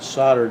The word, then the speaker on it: solder: size I needed and soldered it together soldered I soldered it for our English friends that's how they pronounce they get upset when you mispronounce it but that's how Americans pronounce it solder but anyway that looks